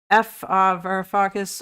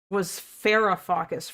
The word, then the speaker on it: Varoufakis: Varoufakis. All my homies hate Varoufakis. Yeah, I know. I thought his name was Farafakis for some reason. That might have just been because Dylan was pronouncing his name wrong.